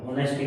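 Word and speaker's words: honesty: ऑनेस्टी means ये एक silent है इसका। इसको हम ऑनेस्टी नहीं बोलते हैं। इसको हम ऑनेस्टी बोलते हैं।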